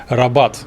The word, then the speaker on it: Rabat: має прямий зв'язок із столицію мароко рабат з наголосом на другу А коли потрапляєш в таке